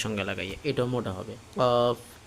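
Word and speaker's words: ق: বরাবর উপরে তালুর সঙ্গে লাগাইয়া এটাও মোটা হবে কফ উচ্চারণটা দেখেন কফ কফ এখন আমরা পড়বো পাঁচ নাম্বার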